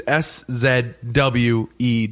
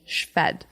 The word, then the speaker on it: Szwed: If you were to spell it the way it sounds, it'd be SCHFED. Szwed. Szwed.